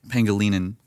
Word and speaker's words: Pangelinan: So you take the name Angelina, and this is the This takes care of pronunciation and spelling. Okay. Angelina, because everyone has heard that Yep. name before. You change the G in Angelina to a hard G instead of a soft G, so Angle. Angelina. Okay. And then you put a P in the front and an N at the end, so you get Pangelinan.